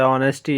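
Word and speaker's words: honesty: एच यहाँ पे silent है, ऑर्स है, ऑनर्स है, ऑनेस्टी है, तो ये काफ़ी हमारे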